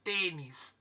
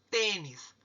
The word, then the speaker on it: tênis: A sílaba mais forte é o T.